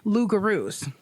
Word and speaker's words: loup-garou: from squirreling off into loup-garous. Uh-huh. I'm not sure if that's the right way to say it. Yeah, I believe it's pronounced loup-garou. But that's an actual thing.